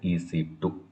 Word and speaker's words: EC2: we called as ec2 it's not ec square it is a ec2 some people are wrongly